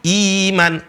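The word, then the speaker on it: إيمان: Kalau sebelumnya adalah kasroh, iman.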